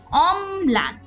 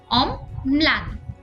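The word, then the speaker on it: অম্লান: শব্দের মধ্যে বা শেষে বসলে দীপ্ত হয় যেমন অমলান এখানে যেহেতু পদের মাঝখানে বসেছে কাজেই অমলান দীপ্ত উচ্চারণ হচ্ছে ল যেহেতু দন্তমূলীয় বর্ণ তাই এর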